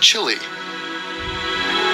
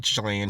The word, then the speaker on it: Chile: It's pronounced Chile. What on earth would make you Smash the Chilean chick.